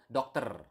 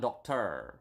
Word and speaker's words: dokter: You need to pronounce the R. Okay, so dokter, not doctor or something like that, but dokter.